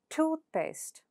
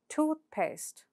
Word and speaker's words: toothpaste: So, in a compound noun, the first word takes the stress. For example, seafood. How do you pronounce it with stress? Seafood. Seafood. Similarly, toothpaste. Toothpaste.